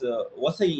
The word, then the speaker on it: Vasai: And this Basin, which is pronounced as Vasai in Marathi, is very important.